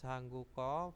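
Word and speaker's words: 한국어: sini adalah muk yuk mukyuk Ya jadi mugyuk bacanya mugyuk Nah itu mandi terus hangguko bahasa Korea hangguko ya hangguko terus Emak menjadi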